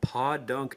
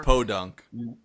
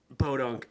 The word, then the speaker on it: Podunk: next to L for some reason this small pod dunk Town seem to amass a bizar it's pronounced Podunk Podunk uh bizarre number of wood pallets which they